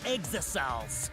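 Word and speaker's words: Exisals: And if you even try to interfere, we'll just crush you with these here exosols.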